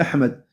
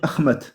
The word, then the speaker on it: Ahmed: Le ha est devenu et le d le dal est devenu ta. Au lieu de dire Ahmed, ils vont dire Ahmad.